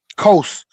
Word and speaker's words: Qos: I brought out uh uh QoS which is pronounced uh uh um uh um coast.